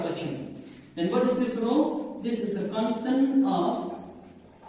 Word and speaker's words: rho: Rho. And the spelling for this R-H-O, not a ho, but pronunciation will be rho.